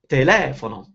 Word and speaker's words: telefono: For example, some four-syllable words like andiamo are accented on the third syllable, like andiamo, but others like telefono, they have the accent on the second syllable, like telefono.